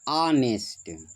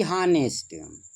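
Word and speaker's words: honest: वह होता है बेटा अ नेस्ट। अ नेस्ट। ना कि हनेस्ट कहीं कहीं पढ़ाते वक्त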